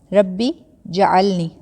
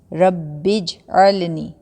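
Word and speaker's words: رب اجعلني: کوئی زبر نہیں ہے۔ اکثر لوگ کیسے پڑھتے ہیں، ربی جعلنی۔ اصل جو اس کا تلفظ ہے، اصل جو اس کی پروننسیشن ہے وہ ہے ربج، ربج، با زیر جیم بج، ربج علنی، ربج علنی، یہ اصل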